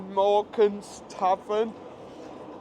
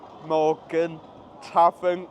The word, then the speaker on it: Morgan Tavern: Do you say Morgan's Tavern? Or do you pronounce it properly Morgan Tavern? Because I'll just quickly cut up here, show you. If you look on here, in most the signs you will see it's Morgan Tavern, but convenient really when everyone calls it Morgan's.